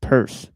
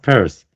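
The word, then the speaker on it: Peirce: Charles, but I'm sure it's pronounced purse, but but I could be wrong. Um Yeah, it's pronounced purse.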